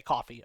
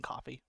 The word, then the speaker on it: Ko-fi: You say coffee. Okay, I'm going to start saying coffee.